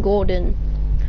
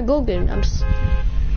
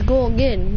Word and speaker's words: Gorgon: Oh, he's saying your name wrong. He's saying Gordon. No, Gorgon. Yeah, it's Gorgon, not Gordon.